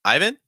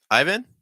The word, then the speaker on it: Ivan: George it's George um Ivan Ivan um no stress on first syllable you finish start with that heavy eye sound and then vin with a short eye Vin VIN iin now